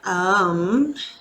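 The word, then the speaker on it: Aum: manage life's daily challenges home is the most common chant that you've probably heard of it's actually pronounced a-u-m um and it is known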